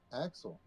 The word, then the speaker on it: Axtel: We got there's a couple of them around me that one of them is Axel. That motherfucker is spelled Axtel, and I'm like, who?